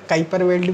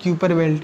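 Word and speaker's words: Kuiper Belt: क्या है, ये है, इसे हम उच्चारण में कैपर बेल्ट भी कहते हैं, यदि हम इंग्लिश में लिखें कैपर तो इसे कैपर बेल्ट, या इसे ही हम क्यूपर बेल्ट भी कहते हैं, उच्चारण आप कुछ भी कर सकते, क्यूपर पेटी।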